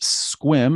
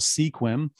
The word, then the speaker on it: Sequim: it out on the map here that's actually pronounced squim it's often called sequim uh hey and how about forks for those